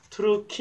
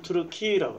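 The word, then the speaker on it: Türkiye: 투르크메니스탄이 터키를 우리는 터키 이렇게 발음하지만 터키 사람들은 자기들을 투르키 이렇게 발음해요. 터키 사람들은 투르키라고 그래요.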